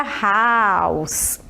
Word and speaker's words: house: Agora a palavra house. House. A pronúncia é como se fosse um S mesmo, nada de dizer house, tá? É house. House.